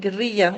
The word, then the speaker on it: guerrilla: And I wanted to keep the word ger in the way that we pronounce it in Latin America because this is what I'm also referring to.